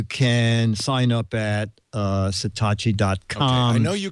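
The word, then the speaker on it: Satechi: find it you say it that way it's satki s a t yes I asked the pr lady she said no it's satachi she said it's satachi but it's spells I know it's s a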